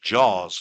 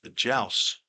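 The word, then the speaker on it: Jauz: Originally, I was told his name was pronounced Jaws. It's J-A-U-Z, but now I've been instructed to say his name is Jouse.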